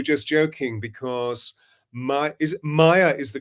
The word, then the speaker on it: Maia: Joe we were just joking because May is Maya is the correct pronunciation Maya isn't it correct but Maya spent